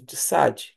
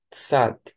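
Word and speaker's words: צדי: Nós temos o Tsad, que equivale um TS ou um TZ. Tsad, dependendo se tiver no início ou no meio da palavra, vai estar dessa maneira.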